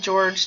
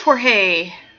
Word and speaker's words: Jorge: We call him George to piss him off. So it is Jorge.